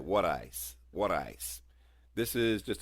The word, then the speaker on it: water ice: You got to say it right, wooder ice.